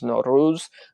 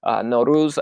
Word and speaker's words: Nowruz: I asked Aresh if I was pronouncing Nowruz right, and he was just very kind, and he was like, "Oh no, there's different ways of pronouncing it, but Nowruz is the proper way."